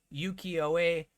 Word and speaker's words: Ukiyo-e: Okay, last thing here is and I'm going to pronounce this wrong, Ukiyo-e, I believe is how it's pronounced, art style of basic lands.